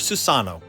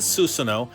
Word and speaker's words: Susanoo: Susanoo hoặc Susano. Điển hình là cách nói của người Nhật là Susanoo và cách nói tiếng Anh là Susano.